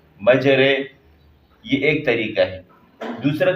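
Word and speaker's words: مجرها: اور ہم کرتے ہیں، میم جیم زبر مج را امالہ والی رے، مجرے، یہ ایک طریقہ ہے۔ دوسرا طریقہ اس کا یہ ہے کہ میم جیم زبر مج را ممالہ رے، مجرے ہا الف زبر ہا،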